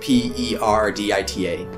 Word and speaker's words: Perdita: It's probably not pronounced correctly, but P-E-R-D-I-T-A. That sounds like the right way to pronounce it then.